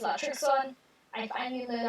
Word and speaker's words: Latrixon: Yes, it's not Latrinox, it's Latrixon.